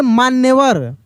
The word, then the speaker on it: मान्यवर: जैसे माँ पूरा है न, लेकिन न का उच्चारण तेजी से, मान्य।